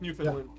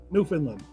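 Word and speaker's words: Newfoundland: So, it's spelled New Foundland, but it's pronounced New Finland. New Finland.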